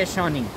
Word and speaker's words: Yasheni: Basically इसको history में बोला जाता है यशानी। ठीक है, यशानी बोला जाता है, प्रोनाउंस करने में यहाँ लिखा भी हुआ है यशानी।